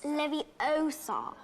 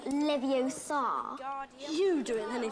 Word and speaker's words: Leviosa: someone's eye out besides you're saying it wrong it's leviosa not leviosa so hermione ends up